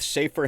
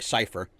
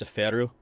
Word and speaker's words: Seifer: Um, so dealing with Cafer himself, or I'm sorry, Cipher. Growing up, I always called him Cafer. That's what me and my friends all called him, but I guess apparently Cipher is the correct pronunciation.